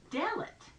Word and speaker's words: Dalet: sound like in dog the word most closely associated with it is Dalit and because it has the accent on the first syllable I bet you can